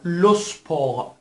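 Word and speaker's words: le sport: لو سپور دوستان دقیق بفهمید که تی که در پایان کلمه قرار گرفته تلفظ نمیشه. همونطور که عرض کردم در اکثر موارد اگر تی یا اس، دو حرف تی یا اس آخرین حرف یک کلمه باشن غالبا تلفظ نمیشن. لوسپور به معنی ورزش هست. لوسپور ورزش هست که دقیقا شبیه اسپورت انگلیسی نوشته میشه اما سپور تلفظ میشه.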